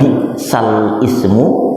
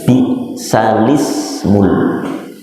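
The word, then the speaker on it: بئس الاسم: tulisannya bisa, kemudian al-ismu, tidak dibaca bisal ismu, tapi bacanya bisalismul. Ya, ini sering terperangkap yang belum pernah binawar, belum pernah tahsin, begitu menghafal bisal ismu. Ya memang tulisannya al-ismu, tapi bacanya ditashil menjadi bisalismul.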